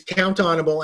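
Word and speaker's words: count-on-able: A lot of people break it up into the 3 syllables because we put the hyphens in between. But it's count onable.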